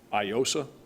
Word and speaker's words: Aiosa: It's AIOSA, IOSA, so the A is silent.